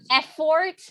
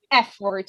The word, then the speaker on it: effort: a few things uh effort has the accent uh on the first e so it's f word not uh because i